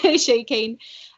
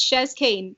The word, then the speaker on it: Chez Kane: shares kane um yeah a lot of people mix that up they think it's like the french way shaking um yeah so i'm just chezz kane well thank you for